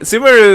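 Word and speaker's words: Sumeru: Oh, I like the way she said Sumeu cuz it's Sumaru, right? Sumaru is the correct way to pronounce it, isn't it?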